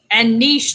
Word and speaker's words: niche: And I say niche is rich, and niche doesn't rhyme with rich.